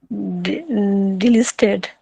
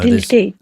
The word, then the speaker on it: deleted: Delisted. No, Deleted. there's no L in there.